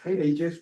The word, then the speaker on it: Aegis: I always mispronounce it. Aegis, thank you.